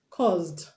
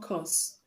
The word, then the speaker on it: caused: have caused caused cause the s in cause is pronounced z enough is not cost you cost me to do it no it's you caused me to do it you caused me to do it caused not cost so the last sound